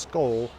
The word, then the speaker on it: Skål: kind of correct so ska with the Halo above it pronounced skull that is the Danish Norwegian or Swedish form ska with the acute